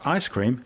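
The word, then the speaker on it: ISS-CREAM: series 12 will be the ISS creme pronounced ice-cream cosmic ray detector ice-cream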